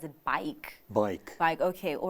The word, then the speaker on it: BAIC: plans for the sa Market am I even pronouncing it right it bike bike bike okay all right well let's talk